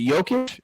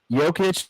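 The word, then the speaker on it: Jokić: someone once told me is it yokish that's how you say it right yeah jokic it's like like Joker just playing in flip-flops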